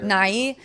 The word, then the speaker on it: Nighy: And Bill Nighy, I think is how you say his name. Yeah. Nighy.